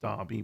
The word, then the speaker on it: Derby: I think that's pronounced Derby, by the way.